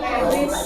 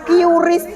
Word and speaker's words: QRIS: Ya, oke, pembayaran memakai kris, itu bacanya kris ya. Nah, kayak sok ke barat-baratan bayarnya kiuris, kris. Nah, besok kita kalau misal paham, sadar, cinta rupiah, besok saya berikan cinta rupiah. Ben ngerti ya? Jadi bacanya bukan QRIS tapi KRIS.